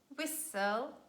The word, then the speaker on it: whistle: after me passing moisten also in this combination s-t-l-e you say whistle castle and i would like